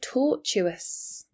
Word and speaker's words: tortuous: Different pronunciation now. tortuous.